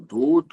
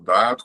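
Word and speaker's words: Datta: Alguns falam Dut, outros falam Dat, quando a gente lê informações, mas as fontes que eu uso falam data, então eu uso data, mas eu não sei por que há essa confusão, essa diferença.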